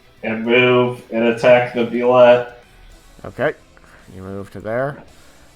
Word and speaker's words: Bulette: Never Derek says Bulette, it sounds like he's saying bullet.